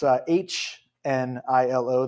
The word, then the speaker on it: Hnilo: My last name is a little different. It's Hnilo. The H is silent.